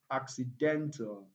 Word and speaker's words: accidental: From the way I pronounce, you can clearly see and feel that option C is the correct answer. Why? Option it contains four syllables, right? And all the other syllables, the first, the second, and the last, contain weak vowel sounds, so they can never be stressed.